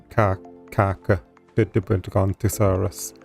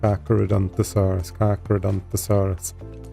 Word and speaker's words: Carcharodontosaurus: Despite the H, it's still pronounced Carcha. Yeah, Carcharodontosaurus. Is that right? Carcharodontosaurus.